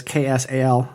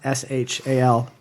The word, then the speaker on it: Xal: And it's mentioned in the paragraph of a different fanfic that please pronounce Xal as Xal, Saul. written out as KSAL, not SHAL, not ZAL. He is fussy about that.